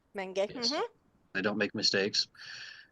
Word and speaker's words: Menge: Menge.